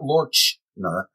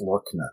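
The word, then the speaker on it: Loerchner: It's not Lorchner, as I thought for so many years. It's Lorchner because he pronounces that way. Okay. But the Wings folder from Wolfgang Lorchner.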